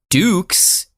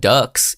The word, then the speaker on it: Dux: Yeah, it looks like our boy Frank Dux, which makes sense, but Dukes is how it's pronounced, not Ducks, even though I've been saying Ducks, because it's spelled D-U-X, Ducks.